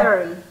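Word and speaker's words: thirty: Es lo mismo con 30, es el mismo sonido, ¿verdad? Pero no es Z, no es Z, ¿verdad? Sino que es como un sonido de... Sí. ¿Verdad? 30, es como... Entre, como una TZ. TZ, ajá, exacto. Porque se escribe TH, ¿verdad?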